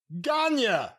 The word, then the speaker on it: Gagne: Be sure to key your eye on that boy Gagne and pronounce it in caps g o n y a. Gagne.